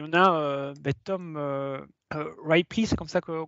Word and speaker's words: Tom Ripley: Il y en a Tom Ripley, c'est comme ça qu'on prononce en anglais, qui est voilà, qui a